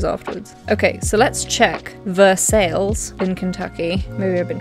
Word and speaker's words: Versailles: Versailles. Oh my god. Yes, very specific. The city's name is pronounced Versailles, an anglicization different from the French pronunciation of the royal city the same name near Paris.